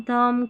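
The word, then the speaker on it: thumb: नियम एमबी एमबी आखिर में रहेगा और बी यहां पर साइलेंट रहेगा। क्लाइम थंब कॉम लैं बम ऐसे पढ़ेंगे हम।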